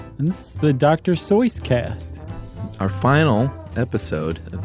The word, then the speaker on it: Seuss: keep saying Dr soyce everybody knows him as Dr Seuss but apparently the correct pronunciation is soys and and the guy